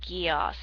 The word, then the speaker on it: geas: a geass or g-e-a-s i'm not sure if that's pronounced guias or gaius or geos i think it's pronounced geos a geos is something that